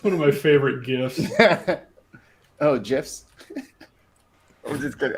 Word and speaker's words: GIF: Well, I didn't hit the button for you, but I will always pronounce it with the G. G? GIF.